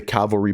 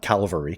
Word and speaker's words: cavalry: back and grab the cavalry barrel and for some of you guys that have been around for a little while i did say it right right there cavalry not calvary cavalry i'm still getting it all